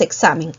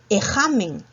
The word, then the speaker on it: examen: Pronunciemos examen. Ec. Primero, ¿qué sonido va? No va la X, ¿verdad? Porque si colocaras la X, ¿qué diría ahí? Diría ejamen. No es ejamen.